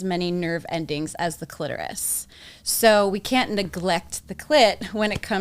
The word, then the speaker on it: clitoris: main star is the clitoris, right? Because and it's not clitoris, people, just so you know, it's clitoris. So, say it correctly.